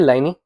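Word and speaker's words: Pliny: Alright फिर है एक आपके लाइनी यह पी साइलेंट हो जाता है। लाइन है ओके।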